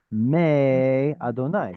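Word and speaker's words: מֵיְהוָה: It's assuming that the following four letters will be pronounced Adonai, which starts with an aleph. Me Adonai. So if we had Adonai. the actual word Adonai, would you have me or may? Of course you would have may.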